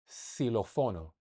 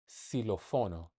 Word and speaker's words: xilófono: If the X is the first letter of the word, it's usually pronounced as the S. Xylofono. xilófono.